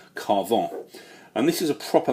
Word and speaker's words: Carven: time it's on the house of carven or Carver or carve in however you want to pronounce it I say carve on and this is a